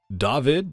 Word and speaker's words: Dawid: by senpai next up on the chopping block david does tech stuff and yes that is how you pronounce the name so you know just for